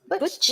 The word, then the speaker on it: Butch: Is that how you pronounce it? Butch? Yes, that's right.